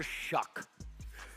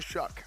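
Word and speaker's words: Shough: It's not pronounced like it's spelled.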